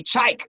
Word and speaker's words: Chike: i thought to myself don't say that a z just say chike because i heard him